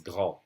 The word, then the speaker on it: grand: As I said earlier, the last consonants of words are silent. And here this word would be grand. If I pronounce it alone, it's grand. And this is the word enfant. We don't say the T, we don't say the D.